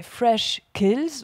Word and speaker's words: Freshkills: Alors, il y avait un espace, ouais, et c'est la source fraîche, mais Freshkills, où on va accentuer ce kills, et puis en enlevant l'espace, l'accent tonique se trouve porté sur le fresh.